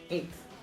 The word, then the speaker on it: eighth: This also happens in words like eighth, although it may be very minor. This one, right? Yeah, this is eighth. Why? Because this actually pronounced, this should actually be pronounced A, J, let's keep it simple. E, I, G, H, T, as in the word 8. And then a TH. It's just these get merged into one because of spelling rules.